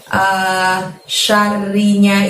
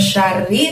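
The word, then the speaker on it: شر: Di sana masih ada lafadz wa min syarri lagi, tapi syarrinya itu bertemu dengan lafadz nafasati. Jadi ri-nya itu nanti berakhiran bunyi n ya teman-teman, bukan wa min syarri tapi wa min syarrin gitu.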